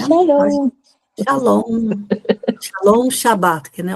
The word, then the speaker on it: Shalom: S A L O M. Shalom. É assim que se pronuncia, né? Shalom.